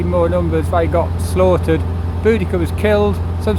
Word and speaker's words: Boudica: now known as boudica older people there is bodacia but they've sort of decided the pronunciation was wrong it's Boudicca whichever you're happy with and in around ad60